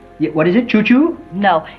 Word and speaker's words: Chou-Chou: Chou-Chou. Yeah, what is it, Chou-Chou? No, it's spelled C-H-O-U, C-H-O-U.